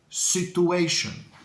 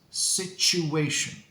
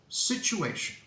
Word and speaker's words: situation: of the word is situation situation don't be afraid of this nice CH sound now some people say situation with a year sound